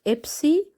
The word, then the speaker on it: Epsi: So remember, the one that's open from both of the sides is called Epsi, and the pronunciation is PS.